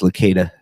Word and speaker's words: Licata: It's pronounced Licata.